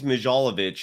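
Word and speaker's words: Milojević: Larry, in your comments, GTC Reels writes, I think it's Mijalovic is how you pronounce that.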